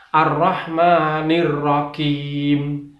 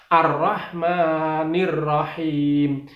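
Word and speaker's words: الرحمن الرحيم: ini juga contoh salah arrohmanirrohim salah arrohmanirrohim salah ini salah arrohmanirrohim salah yang benar arrahmanirrahim juga tidak boleh dibuat tebal contohnya begini ini contoh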